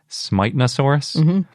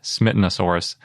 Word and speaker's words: Smitanosaurus: it's a long eye i think that they want it to be pronounced smitenosaurus but i don't think they would be too upset at least i would guess they wouldn't be if you pronounced it smittenosaurus since smiten got anglicized